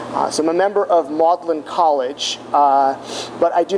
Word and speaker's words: Magdalene: member of maudlin college it's spelled magdalene but it's pronounced maudlin so i'm a member of maudlin college but i do